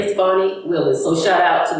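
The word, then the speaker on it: Fani: up your face but on name pronunciation I do need to apologize to um Fanny it's fonnie Willis and if you listen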